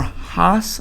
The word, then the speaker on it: Hass: So it says most avocados eaten in America are Hass avocados.